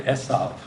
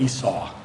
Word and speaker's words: Esav: time it's Jacob and Esav. And I'm going to be saying Esav instead of Esau. Esav. That's how you say it in Hebrew.